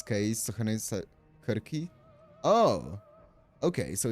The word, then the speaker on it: Circe: Uh the Greek and Latin C's are pronounced as Kirk. Oh, okay. So it's Okay, I see. So it's different. I was saying Cers because of um that's